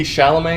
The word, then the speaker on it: Chalamet: I think if you're a fan of Timothée Chalamet, is that how you pronounce it?